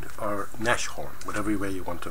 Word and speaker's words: Nashorn: They're all wrong anyway because, unless you're German of course, then you've got the proper pronunciation. Basically means nose horn, or rhino. Nushorn.